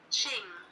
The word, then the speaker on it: Qing: to say during the Jing Dynasty but I I that might be wrong and I super apologize I'm so bad at pronunciation so let's find out Qing Dynasty Ching there we go so it was formed